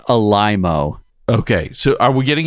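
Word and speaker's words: Alaimo: No, because the meme was, it's pronounced Alimo.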